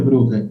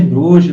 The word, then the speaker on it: Brugger: Certinho é Brugger. Mas você fala Roger Brugger, do jeito que lê, tá certo.